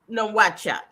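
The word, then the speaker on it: Nouakchott: Moritania is a country and uh how do you pronounce the the capital city? Um that's nohat.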